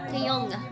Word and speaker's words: Taeyong: you have to pronounce the G. Taeyong.